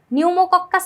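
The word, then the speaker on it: pneumococcus: কিন্তু এখানে তোমরা ভুল কি করবা জানো? নিউমোকক্কাস যে ব্যাকটেরিয়া ওটার বানান যদি তুমি ইংলিশে লিখতে যাও সেক্ষেত্রে সামনে একটা সাইলেন্ট পি থাকে। পি এনই ইউ এরকম করে।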